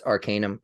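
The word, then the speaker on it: Arcanvm: on a podcast so it's spelled uh a r c a n v m so um that's Arcanum it's the Arcanum YouTube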